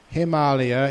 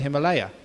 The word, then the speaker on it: Himalaya: Himalaya is the proper pronunciation of what we call the Himalaya.